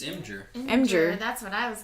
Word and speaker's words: Imgur: Imgur It's as well. amazing. And I did not like what is it. it supposed to be? Imager? It's Imgur.